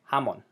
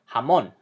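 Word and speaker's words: jamón: end but it's not following the rules of pronunciation if it did it would sound like this come on but we don't say jamon we say jamon we emphasize the last little belong that word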